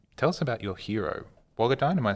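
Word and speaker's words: Wagadhaany: of us um tell us about your hero bogadon am i saying it right yes wagodine so wagodine the her name means dancer so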